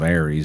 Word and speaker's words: ARES: And then races, or I've called it races as well, but just because of ARIES, ARES, that's commonly how that's pronounced.